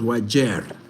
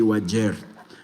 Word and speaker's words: Wajir: It's pronounced as Wajir, not Wajir. The way people say in Somali you say Wajir.